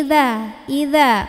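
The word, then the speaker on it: إذا: Kalau ini idza, ujung lidah ketemu sama ujung gigi atas, melet dikit lidahnya.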